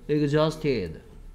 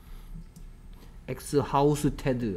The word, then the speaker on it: exhausted: Exhausted. 됐습니까? 엑스하우스테드 아니고요. exhausted.